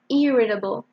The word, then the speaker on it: irritable: we go to irritable pay attention to the stress here you stress the first syllable irritable it's someone who gets annoyed